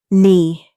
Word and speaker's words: knee: Tom think this chocolate shoe phone right knee Sophie think this chocolate shoe phone right knee. Wait, we don't pronounce the W in right or the K in knee.